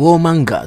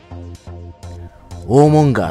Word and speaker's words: Warmonger: ウォーマンガーとは戦争屋の意味。ウォーモンガーって読む人がいる